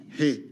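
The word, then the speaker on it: reais: e a i s I didn't hear an R when you said it aloud hey as opposed to so it's more of a silent R it's like an H so that's 470 hey Ice what's what's that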